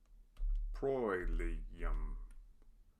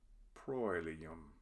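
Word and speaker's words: proelium: Proilium. OE is a diphthong, and it has an oi sound. Proilium.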